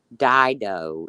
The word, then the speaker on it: Dido: Dido is how you pronounce it.